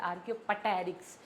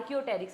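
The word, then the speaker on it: Archaeopteryx: Already बात कर चुके हैं इट इज़ नॉट आर्कियोपटेरिक्स पी is silent here आर्कि आर्कियोटेरिक्स आर्कियोटेरिक्स क्या है?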